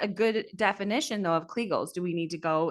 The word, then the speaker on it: Kegel: Okay, so And I'm still listeners, back on kegels. So, just is that a good definition though of kegels?